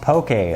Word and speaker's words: poke: of poke a it's spelled P oke but pronounced poke a also you may have had it but on